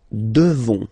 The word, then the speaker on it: devons: Nous devons, okay? Classic ending, ONS for nous, okay? You just pronounce this on, O-N, this nasal, okay? And then the S, final S is not pronounced.